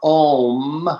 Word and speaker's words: Om: And if you look at, for example, the mantra Om, which I use a lot, I like to spell it A-U-M, chanting the mantra Om, it's very similar to the word Amen, and also to Shalom.